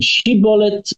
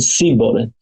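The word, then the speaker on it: שיבולת: One of them said shibolet, one of them said sibolet.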